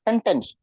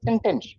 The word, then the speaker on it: sentence: up to the mark you say senten like it's called sentence okay please try to